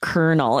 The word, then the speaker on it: colonel: Another one that confused me, Aubrey, was kernel, because it's actually spelled C-O-L-O-N-E-L. Do you see any R's in that spelling? There's no R. It's crazy that it's pronounced kernel. It looks like it should be Colonel.